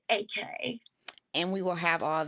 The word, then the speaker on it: Ek: My last name is spelled E K and it's pronounced AK.